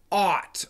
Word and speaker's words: ought: Students go to the dictionary and they see the word is pronounced ought, O-U-G-H-T, ought.